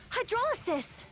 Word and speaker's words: hydrolysis: Hydrolysis! Oh, that's how you pronounce that.